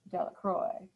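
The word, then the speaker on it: Delacroix: jones and dixie de la croix the villagers pronounced this name de la croix eventually made a great pile of stones in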